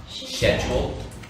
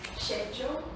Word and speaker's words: schedule: I have heard someone say it's schedule, but Schedule? schedule? Yeah. Yeah. So schedule is like a British way of saying it.